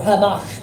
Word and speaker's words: Hamas: This was the incident which took place even recently, when cowards calling themselves leaders sent young people claiming to be Hamas, or Hamash perhaps, pronounced in the correct manner, invaded parts of